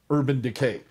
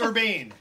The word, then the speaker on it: Urbane: And I'm supposed to also mention Urban Decay. Yep. Yeah. So. No, it's Urbane. Urbane. Why did you say it wrong, Jeff? Wait, Mike, it's Urbane, right?